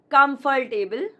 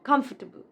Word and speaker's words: comfortable: It's not comfortable, but comfortable. Comfortable.